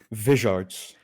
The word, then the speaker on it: Vizards: Vizards, because it's like wizards but weird. Vizards. Yes, Vizards, as the single most underrated piece on the site.